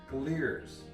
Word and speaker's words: Glier's: Now during the video, I think I've been calling the festival Glier's and Glier's, so I looked it up and the correct pronunciation is Glier's.